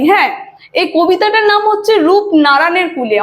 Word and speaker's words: রূপনারানের: এই কবিতাটার নাম হচ্ছে রূপ ননারায়ণের কুলে অনেকজনই কিন্তু উচ্চারণে ভুল করে ঠিক আছে অনেকজন বলে রূপ নারায়ণের কুলে সেটা কিন্তু না রূপ ননারায়ণের কুলে আর রূপ ননারায়ণটা